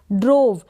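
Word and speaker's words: drove: ड्रोव, डी आर को ड्र पढ़ा, ओ है तो ड्रो बन गया, और वी को व प्रोनाउंस किया, और ई का उच्चारण नहीं होगा, ई का प्रोनाउंसिएशन नहीं होगा, लास्ट में है, ठीक है, इसलिए हम ई को प्रोनाउंस नहीं करेंगे, ड्रोव।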